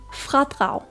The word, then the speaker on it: fradrag: så n g lyden ng farforening farforening fradrag fradrag Vi starter med f som flaske r med